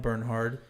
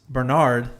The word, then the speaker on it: Bernhard: on today's episode, we have Liam Bernhard, commonly mispronounced Bernard.